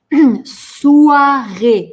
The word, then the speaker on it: soirée: Soirée. Звук «уа» произносим вместе. Уа, уа, уа. Soirée. Потянули улыбки. Soirée.